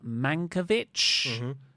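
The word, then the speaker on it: Mankiewicz: skit with Tony storm Ben manovich is how you say his name he wouldn't say tits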